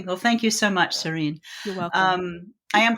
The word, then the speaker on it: Sarene: Well, thank you so much, Serene. You're welcome. I am pronouncing it right. Serene, of You course. are. You are. Yes. Pronounced like the word, not the word.